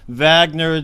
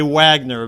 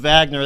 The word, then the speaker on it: Wagner: his name is pronounced wagner decease and we pro here in the united states might say wagner but i'm going to call him wagner that's the way they say it down there uh welcome wagner thank